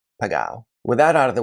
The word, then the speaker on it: Pegau: already cringing and saying, this idiot pronounced it incorrectly, it should be called Pegau. Well, I'll have you know that I visited the winery and that the family members themselves have a dispute about how the name is pronounced. And so for that reason, I'm going to continue calling it Pegau.